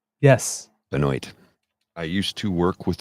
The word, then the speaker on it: Benoit: Benoit okay she's from Maine we would say benoa yes Benoit I used to work with a guy a